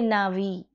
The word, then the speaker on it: Na'vi: Now, if I want to pronounce Na'vi, you see that I have to make an extra effort because of this particular tiny dot over here, that is a small apostrophe placed on the letter A. It is there because the letter A is not pronounced in that culture in the way we pronounce it. We say Na'vi.